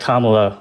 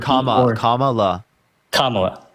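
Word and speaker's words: Kamala: um I was really hoping that that that kamla or camela sorry I know you're people saying it wrong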